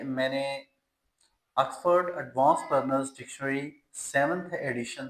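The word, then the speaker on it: Oxford: होता है ऑक्सफर्ड ऑक्सफर्ड एक तो शुरू में आ साउंड है इसकी देन इसमें एंड पर जो है वो जो आर साउंड है उसको हम साइलेंट कर देते हैं यह अक्स फर्ड अक्स फर्ड फर्ड नॉट फर्ड आर को साइलेंट करेंगे अफर्ड एडवांस नॉट एडवांसड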